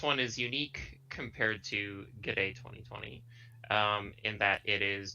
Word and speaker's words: GDA: Is it true they pronounce it G'day? G'day. They do say G'day 2020, so the older ones, they've got G'day 2000, I think.